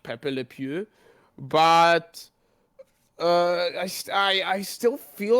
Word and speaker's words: Pepe Le Pew: But like, as you said, as you get into stuff like Pepe the, is it Pepe the Pew? Is that how you pronounce it? Pepe Le Pew, yeah, I think Pepe Le Pew, it's yeah.